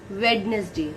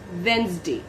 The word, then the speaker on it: Wednesday: fifth word is february sixth word is wednesday wednesday mostly the student pronouns it wednesday that is wrong it's wednesday okay now the seventh